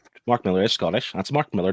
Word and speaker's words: Mark Millar: That's Mark Millar, not Mark Millar, by the way. People pronounce his name quite wrong all the time. It's Mark Millar. It's not French.